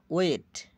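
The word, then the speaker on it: weight: আইজিএস জের উচ্চারণ হয় না, আই এর মতো হয়। ব্যতিক্রম। ওয়েট ওজন, এটা ব্যতিক্রম।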